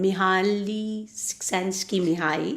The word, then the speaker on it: Mihaly Csikszentmihalyi: And I still don't know how to pronounce the author's name. Mihaly Csikszentmihalyi.